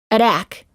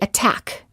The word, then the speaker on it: attack: within a stressed syllable we don't say attack we say attack words for practice city duty